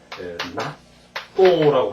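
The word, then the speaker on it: 納豆: 납득가 낫도크가 이까나이 또가 라든가 이제 또 낫으로 발음하는 게 하나 더 있어요. 저 또 한국에 그 왜 저기 청국장과 같은 일본에 그 뭐 있잖아요. 이걸 낫또라고 하는 거죠.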